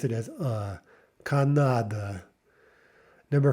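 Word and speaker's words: Канада: Okay, there it's the third one that sort of falls out of favor, and we pronounce it as Canada.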